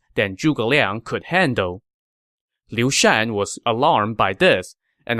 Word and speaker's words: Liu Shan: Leon's name incorrectly as Lu chan the character for his given name has two pronunciations Chan or Shan and in this case it should be Lucian not Lu chan my